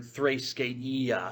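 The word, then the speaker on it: θρησκεία: You need the whatchamacallit, the line over the E here because it's a different letter in Greek, in the Greek alphabet. It's a long E rather than a short E.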